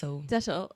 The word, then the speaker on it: Dettol: Dettol.